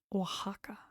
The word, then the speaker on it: Oaxaca: Normally, letters pronounced in Spanish as a K and S, for example, in examen, but there are few exceptions where it's pronounced differently, like Mexico or Oaxaca.